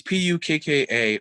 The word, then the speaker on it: Pukka: Um, there's a great band called I don't know if it's pronounced Puka or Puka Orchestra. It's Pukka Orchestra.